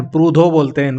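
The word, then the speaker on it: Proudhon: डी एच ओ एन पूधन को पोधो pronounce होगा ये 13 है फादर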